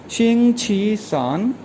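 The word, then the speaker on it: 星期四: इसी तरह वेंसडे जो है वीक का थर्ड डे है, तो ये प्रोनाउंस किया जाएगा शिंग छी सान, शिंग छी सान।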